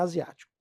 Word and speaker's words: asiático: Olha isso. A, zi, a, zi, a, ti, co. Vogal, vogal. É assim que a gente separa as sílabas. Então são 5 sílabas. Ele é um polissílabo. E a tônica? A tônica está aqui, ó, na antepenúltima. Então ele é um proparoxítono.